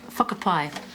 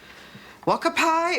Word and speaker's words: whakapai: Marge, whakapai. I beg your pardon? That word in the second line, it's whakapai. That's what I said. Could you just read the whole line, please? Wakapai ururoa. Whakapai ururoa.